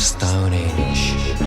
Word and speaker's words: Stonehenge: But their legacy remains, hewn into the living rock of Stonehenge. It's henge! There is an H there! Alright? I promise, not all Brits are incapable of pronouncing their H's.